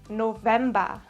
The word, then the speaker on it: November: The German pronunciation is November.